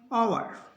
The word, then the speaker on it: hour: एच के बाद ओ है तो ओ का उच्चारण होगा, इसको पढ़ेंगे ऑनर। ये कुछ वर्ड है, इनको याद करना पड़ेगा। ऑनर, HEIR, एयर, HOUR, आवर, आवर। एच नहीं पढ़ा जाएगा, इसको पढ़ेंगे ऑनर, एयर, आवर।